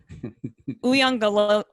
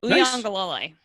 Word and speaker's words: Uyangalole: Uyangalole. Nice work. I appreciate that. So, and it's actually Uyangalole. There we go. It's the third syllable. It's the third syllable is where the stress is.